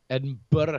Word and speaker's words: Edinburgh: It's pronounced Burr, Edinburgh, Scotland.